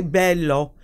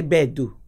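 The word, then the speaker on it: beddu: You don't say bello, you say bedu.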